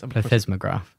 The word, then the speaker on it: plethysmograph: And it's it's described in the paper as vaginal, do you know how to pronounce this? Plethysmograph. Okay, there we go. Plethysmograph.